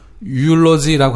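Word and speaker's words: eulogy: 유올로지라고 하는 말 있었어요. 유올로지. EU. 무슨 뜻이죠? EU. 예. 유 이렇게 발음합니다.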